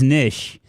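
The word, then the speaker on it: Nietzsche: whip or cool whip pronounce it as niche niche was a guy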